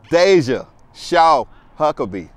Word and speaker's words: Deja Shaw-Huckaby: Remember this name, Deja Shaw-Huckaby.